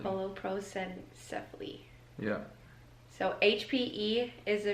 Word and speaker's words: holoprosencephaly: One is, how do you pronounce it, babe? Holoprosencephaly. Holoprosencephaly.